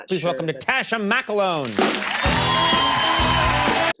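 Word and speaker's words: McElhone: Please welcome Natasha McCloughan. That's how you pronounce her last name.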